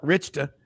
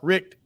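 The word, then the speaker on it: Richt: Georgia it all changed when as some people pronounced it markk Richa Mark Rick came to Athens and so yeah they've got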